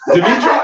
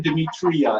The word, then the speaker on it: Demetra: Demetra? No, I'm not saying Demetria anymore. It's Demetra.